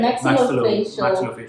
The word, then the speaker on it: maxillofacial: Am I pronouncing it correct? Yeah, maxillofacial surgeon.